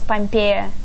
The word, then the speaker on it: Pompeya: You want it to be pronounced as Pompeya, yes.